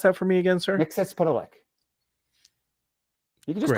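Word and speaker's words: Mxyzptlk: Can you pronounce that for me again, sir? Mixospitalik.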